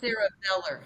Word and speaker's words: cerebellar: It's actually So cerebellar hypoplasia.